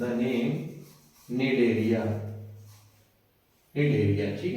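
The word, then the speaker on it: Cnidaria: Phylum सीलटा is also known as the name निडरिया। निडरिया। ठीक है? सी यहां पर साइलेंट है।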